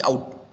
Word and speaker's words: cout: So the it is pronounced as a cout.